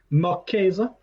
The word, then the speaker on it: Marquise: The story of how do you pronounce it again? Marquise.